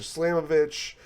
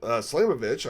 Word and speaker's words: Slamovich: show up in there I'm thinking uh Masha slamovich and um you know probably Mas slamovich slamovich I said it right the first time uh